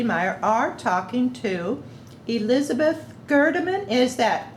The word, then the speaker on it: Gerdiman: and joe turner and myself meyer are talking to elizabeth gerdeman is that correct how you pronounce your name my name is elizabeth gerderman can you spell that virus uh the last name g-e-r-d-i-m-a-n and